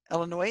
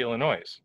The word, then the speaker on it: Illinois: I mean, Illinois, I would say, should have a Y on the end, just going by how you say it. Well, it's spelled, the last letter is an S, right? So it should be Illinois.